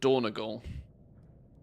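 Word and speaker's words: Dornogal: up for any downfalls how are people pronouncing doogle by the way I call it doogle but dorle is also a common pronunciation by the sounds of things dorle sounds like you're swallowing the whole word though feels like you're saying it without any syllables or Nogle sounds right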